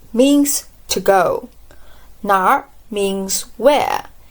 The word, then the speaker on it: 哪儿: When you pronounce 哪儿, you just start with 哪 and quickly roll the tip of your tongue a bit.